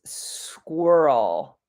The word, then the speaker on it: squirrel: The first sound is squa. Squa. And the whole word is squirrel.